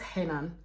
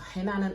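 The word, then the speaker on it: Renan: one so we meet Agata and henan spelled pronounce henan but the spelling is r-e-n-i-n so I had to literally put in Brackets in minutes exactly how to pronounce his name so it's pronounced Helen so henan Agata starts speaking um and straight off the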